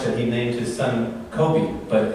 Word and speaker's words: Kobe: Kobe so much that he named his son Kobe, but it's not pronounced Kobe.